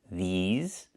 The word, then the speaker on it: these: Make sure you make the long E sound like green beans. These. Plus the Z sound like in zebra and zipper. Z with a voice.